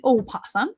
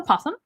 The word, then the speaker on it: opossum: you pronounce this animal it is the opossum not the possum a lot of people